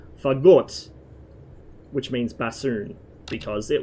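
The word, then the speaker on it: Фагот: let me assume that in Russian it's pronounced with the stress on the second syllable, like most words are in Russian. Fagot, which means bassoon, because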